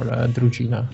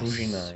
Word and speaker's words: Druzhina: and if not, he might use it for Drugina research. Yes. Druzhina, yeah.